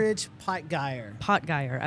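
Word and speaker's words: Aldrich Potgieter: Aldridge Potgeier. Okay, I want to throw in that last T, but there he is there.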